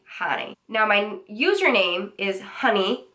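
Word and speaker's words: Jany: My name is actually Hani. It's spelled J-A-N-Y, and I was born in Cuba, so the J sounds like an H. I tell people jalapeno, Jose, Hani.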